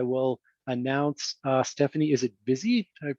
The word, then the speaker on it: Vizzi: So with no further ado, I will announce Stefanie, is it Vizzi? Did I pronounce that correctly? Vizzi, actually. Vizzi, it's Italian, all right.